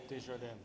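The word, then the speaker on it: Desjardins: Pronunciate. Djardan.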